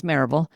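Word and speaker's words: Maryville: I I ran I started grew and ran a group practice in Mville, Tennessee, which we pronounce Maraveville, just outside of Knoxville near the Smokies and ran that practice for 25 or so years.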